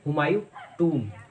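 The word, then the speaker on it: Humayun's Tomb: अगला जो वर्ड है वो है, ज़्यादातर लोग इसको हुमायूं टोम कहते हैं, तो इसकी राइट प्रोनाउंसिएशन है हुमायूं टूम, हुमायूं टूम।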